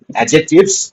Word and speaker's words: adjectives: एडजेक्टिव्स ऐसे बोलते हैं बट एक्चुअली डी साइलेंट रहता है तो इसलिए एडजेक्टिव्स डी साइलेंट रहता है व्हाइल प्रोनाउंसिएटिंग एडजेक्टिव्स तो डी साउंड रहता है